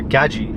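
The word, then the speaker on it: Gadzhi: like Iman G uh Gaji is actually the correct way to pronounce it or Daniel Dalen right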